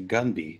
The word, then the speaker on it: Gunby: Everyone, his name is actually Gunby. Do not pronounce it as it looks.